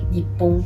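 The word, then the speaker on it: 日本: And in this case it's Nihon, but for example in different contexts it can also be pronounced like Nippon.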